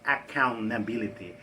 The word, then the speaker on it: accountability: Então, essa palavra account, quando a gente reproduz e coloca accountability, esse T é bem sutil, quase não pronunciável.